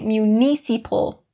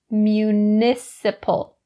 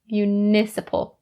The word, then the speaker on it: municipal: Don't say municipal, not correct. It is municipal, municipal.